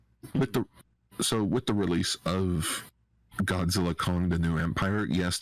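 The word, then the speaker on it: Godzilla x Kong: With the release of Godzilla Kong: The New Empire, yes, the X is silent.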